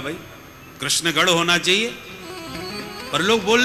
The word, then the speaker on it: कृष्ण: है और इनका नाम कृष्ण बोलने वाले की जीव ही चक्कर खा जाए शुद्ध उच्चारण लोग कर ही नहीं पाते कहीं तो लोग किशन किशन बोलते कृष्ण नहीं बोल पाते तो किशन बोलते भारत का प्रसिद्ध है